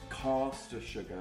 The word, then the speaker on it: caster sugar: It's pronounced caster sugar.